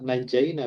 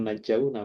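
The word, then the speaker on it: نجينا: Makanya najaina bukan najauna, padahal asalnya itu najauna.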